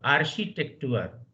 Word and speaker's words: Architektur: Now see the pronunciation. Ich studiere Architektur. Archi. After R also see it is Architektur. Just you have seen durch, Milch, etc.